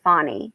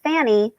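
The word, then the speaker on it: Fani: time to be disrespectful it's not hard to say fonny they say Fanny because they want to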